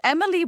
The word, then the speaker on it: Emelie: It's Emily which is spelled Emelie. Or you might want to see it in your Texas drawl, darling. Because everyone thinks when I say E, I'm actually saying A.